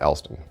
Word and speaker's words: El3don: there's three downloads um actually it's not really ellsden it's e l three d-o-n the s is replaced by three because there's three tricks cool i don't know how to pronounce the three so we'll just call it elston if you remember i